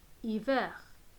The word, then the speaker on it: hiver: Comme vous avez entendu, on ne peut pas prononcer le H.